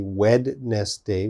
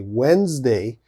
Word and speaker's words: Wednesday: one wednesday okay so wednesday has a d in the spelling there's a d but of course we don't say wed nest day we say wednesday so lots of students